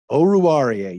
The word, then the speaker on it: Oruwariye: Oh, and I wrote it down phonetically. You've been practicing this. You've been going over with me. Oruwariye.